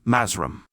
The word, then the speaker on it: Mathrem: He became skillful in mind control and received the lost word of the black magicians, which is written Mathrem, and which they pronounce Mazram.